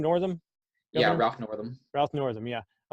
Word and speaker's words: Northam: northerns in that are you say his name Northam yeah Roth Northam yeah I was gonna jump